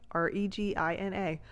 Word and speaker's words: Regina: know this is real there is a city in the middle of Canada spelled like r e g i n a and it is called Regina and then you're at